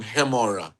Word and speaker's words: Gemora: And uh uh you pronounce my last name Hemora. Hea, right. Yeah. So, so the G sounds like an H.